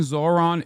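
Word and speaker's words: Zohran: The H in Zoran isn't silent.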